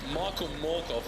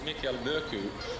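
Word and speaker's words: Mørkøv: It's been really intriguing hearing Michael Morkov or Mikael Murku, and he says the Danish pronunciation, but he's more than happy to go with the anglicised version in the English language.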